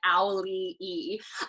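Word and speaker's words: Auli'i: the rock being like this is how you pronounce my name like owly e um so i love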